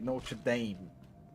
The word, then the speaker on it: Notre Dame: As the Americans say, Notre Dame.